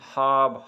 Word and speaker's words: خواب: کے بعد واو آ جائے، اس کے بعد الف آ جائے، تو آپ نے واو کو سکپ کرنا ہے۔ جیسے خانی، خواب، خواہش، واحد ایک لفظ خواتین ہے جہاں پہ آپ نے واو کو تلفظ اس کا ادا کرنا ہے، باقی آپ نے واو کو پڑھنا نہیں ہے۔ تو اسی طرح قصہ